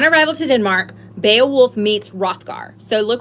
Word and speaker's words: Hrothgar: Okay, upon arrival to Denmark, Beowulf meets Hrothgar. So look right there as I'm reading. Hopefully you're following along. Hrothgar, that's how you say it. Hrothgar, Hrothgar.